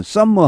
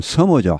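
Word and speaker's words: summer: 서머도 마찬가지죠. 우리말은 썸머 하죠. 썸머. 그냥 영어 발음은 서머죠. 한 개만, M 한 개만 발음해 주시면 되겠습니다.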